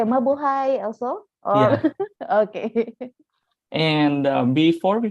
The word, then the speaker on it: mabuhay: long live something okay so we just say mabuhay also okay and before we formally begin i